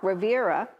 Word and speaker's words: Rivera: And then you had Mark Rivera. Yep. Am I pronouncing that Mark right? Rivera, yep.